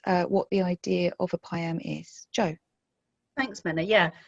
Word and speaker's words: PIAM: Information Assessment Meeting, or PIAM. Family solicitors will recognise that it rhymes with MIAM, and that's because it starts off with the mediator, or so we think.